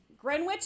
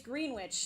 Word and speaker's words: Greenwich: And then Greenwich is like the same, it's Greenwich. So it like looks like Greenwich.